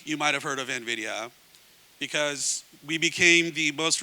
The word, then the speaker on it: Nvidia: probably have heard of Nvidia um and that that's by the way how it's also pronounced Nvidia um many of you